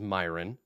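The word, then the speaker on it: My'renn: and it sounds like a human name but it's spelled different so it's an elf am his name was myron but it spelled my apostrophe re nn yup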